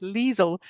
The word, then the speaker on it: Liezl: pronounce well done David it's leel like diesel or weasel welcome leel thank you yeah um